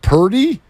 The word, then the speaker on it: Purdy: Like Brock Purdy is actually one of the most playable, fun names for an athlete. Like, think of all the Purdy puns. How about the fact that it rhymes with 30 and they score it every time?